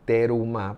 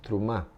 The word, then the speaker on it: trumá: Algunas personas dicen terumá, pero lo correcto pronunciar es trumá, sin la e tan enraizada.